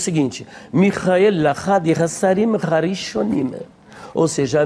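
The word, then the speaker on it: מיכאל: O nome, na verdade, ele vem do hebraico Michael, e tanto no grego quanto no hebraico a pronúncia é justamente esta, Michael, Michael.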